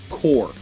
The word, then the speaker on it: Corps: It is core. Core is what we are saying here, and not enough people I think know. It's Green Lantern Corps is what a lot of core is how it's said here.